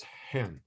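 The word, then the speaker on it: ἕν: but uh because of the um pronunciation it's pronounced as also as hen which looks like a bird in English but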